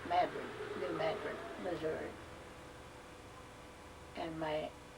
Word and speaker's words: New Madrid: It's spelled just like Madrid, but they call it Madrid, New Madrid, Missouri.